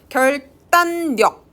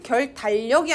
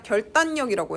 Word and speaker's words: 결단력: 결단력, 결단력 할 때 결달력이 아니라 결단력이라고 해요.